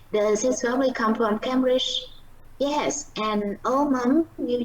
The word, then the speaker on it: Cambridge: có lý do là cái chữ này là nó nhấn trọng âm, là âm tiết đầu là Cambridge, nhưng mà do đây